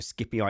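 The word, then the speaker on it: Scipio: to correct me about my pronunciation of Skippy ey so skipy Africanus because we were doing the Italian national anthem you're correct of the how the Italians pronounce it but that wouldn't have been the name of the Roman General in Latin so I will accept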